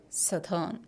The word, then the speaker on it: southern: is very important see s o u h is South we know that H but this is not southurn but this is sou South we